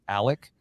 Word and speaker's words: Alex: me last night that even though it has an x on it it's pronounced Alec well everything's funky down